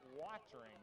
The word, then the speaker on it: Wartring: Hand off to Wartring. They pronounce it watering over there. Like watering your flowers.